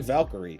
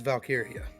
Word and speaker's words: Valkyria: It's Leah Valkyrie. No, it's Valkyria. It's not how they pronounce it. No, it is Valkyria.